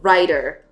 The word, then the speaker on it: Rider: how I pronounce it so Rider like riding a horse yeah that's Rider this is riter a